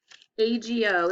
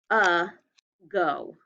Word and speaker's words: ago: more letter for you ago is the word what a go a go and the reason this one can be an exception is because of the schwa sound so we know that